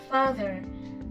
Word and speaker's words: father: there is a wave we pronounce the the your thumb is in the middle of your teeth like the the Father the father like that next we have each